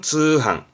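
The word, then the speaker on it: 通販: 팔로겠죠 팔로입니다 발음은 한로 한로 통짜죠 통 통판 발음은 쯔항 쯔항 통 통신 판매를 줄여서 쯔한 겁니다 뭐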